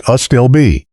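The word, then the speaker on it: Astilbe: Plant seven, a stillby, pronounced a stillbe.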